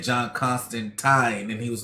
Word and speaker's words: Constantine: wrong all the time they thought it was constant time when it was constantine all along i mean that's why